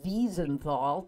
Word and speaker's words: Wiesenthal: guy what's his name I chose to pronounce it Simon of bees and fall because he has an Austria an Austrian accent so I can say Beason - all you can